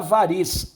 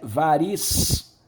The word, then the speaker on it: variz: Vejam, embora variz se escreva com Z, o som é de C. Nós temos que levar em conta aqui, não é a escrita, é o som. Varice, variz.